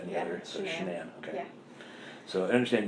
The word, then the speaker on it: Shanann: It's Shanann. You pronounce it like shenanigans. Okay. Everybody calls her everything else but that, but it's Shanann.